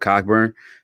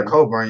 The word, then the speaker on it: Cockburn: think it's just because i know that's not how you say his name but cockburn he's a dog i feel like in like that oh yeah colburn yeah he's tough they're